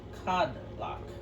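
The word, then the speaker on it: Kodlak: that means something which cod block actually oh that's how it's spelt it's carded like k-o-d-l-a-k but they pronounce it cover blockers it's a little weird that's the last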